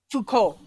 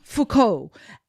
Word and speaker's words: Foucault: Foucault, am I pronouncing it right, Jennifer? Foucault. Foucault.